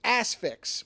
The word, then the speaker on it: Asphyx: today which is 1972's the asix which is a terrible title because it sounds like either a joke title or a porn title but it's spelled asphyx and it's a it's